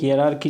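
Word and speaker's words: hierarchy: देखो हायरार्की, ठीक है, इसका प्रोनाउंसिएशन होता है हायरार्की, लेकिन इसका जो लिखा जाता है उसको लिखा जाता है हियरार्की।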